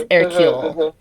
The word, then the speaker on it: Hercule: erule was born and erule if you see it written out is the French version of Hercules it's spelled just like Hercules so her little baby